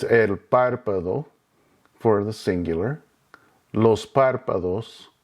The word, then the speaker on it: párpado: Notice the written accent over the first A. That puts the emphasis on that syllable. So it's not el párpado, it's not el párpado. The accent is over that first A. So that's where you put your emphasis.